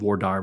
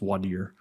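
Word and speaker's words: voir dire: When we go to Vardier, where you pick the jury, some place called Vire, it's actually pronounced Vadier.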